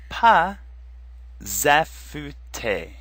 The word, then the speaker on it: pas affûté: The word in front is pas, and normally the final S is silent. But here, it's going to make a Z sound, and it's going to move in front of affûter, so we're going to get pas affûter.